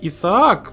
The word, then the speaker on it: Isaac: Может быть, правильно говорить Исаак, но Айзек мне проще.